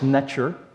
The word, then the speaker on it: sntr: here, which, believe me, is supposed to be pronounced snetcher.